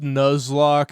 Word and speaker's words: Nuzlocke: It's pronounced Nuzlock as in the Pokemon Nuzle Leaf.